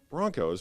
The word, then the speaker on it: Bronchos: Broncos, but it's spelled Bronchos.